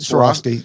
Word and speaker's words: Swarovski: Uh literally he brought in Soroski. Is that how am I pronouncing it? Soroski.